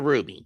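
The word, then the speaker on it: RWBY: The rights owners to Ruby, spelled RWB Y, not RUB Y, cuz man is an acronym, not the name of the gem.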